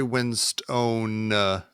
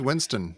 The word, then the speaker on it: Winstone: I don't even feel bad anymore that Tom and I were mispronouncing the actor's name. Oh, see, Which I one? like Ray Winstone. Ray what do we Winston. decide it is? Winston.